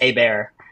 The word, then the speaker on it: Habert: well and uh his his last name is probably one of the most fun from to pronounce I believe it's a bear um it's kind of like almost like a a black bear but a bear it's good way to phonetically pronounce that so um yeah